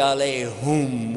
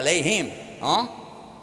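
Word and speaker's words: عليهم: Ghayrul maghdubi alayhum wala dhalin. Whoops. Ooh, yeah, alayhim. Actually, it's both because there is another pronunciation, but the common one.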